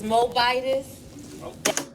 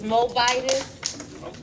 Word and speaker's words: Moabitess: It's Moabitess.